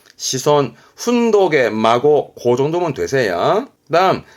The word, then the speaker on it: 子孫: 바람에 대를 이어갈 자손의 손자 자손 부터 갑시다 발음은 시손 시손 독의 마고고 정도면 되세요 그다음 자손의 손자가 있으니